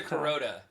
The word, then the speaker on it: Carota: an operation called Santa Carota Beef. Did I say that right, Justin? Santa Carota. Carota! Yeah. I was trying to say it like a carrot, but it's a long O.